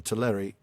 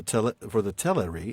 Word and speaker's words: Teleri: I was trying so badly to make that second syllable sound like the A instead of an Right. It's hard. It is hard. For the Teleri in Alqualande had seen